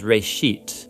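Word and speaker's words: בראשית: it's called genesis genesis comes from a hebrew word uh it's pronounced ray sheet and it just means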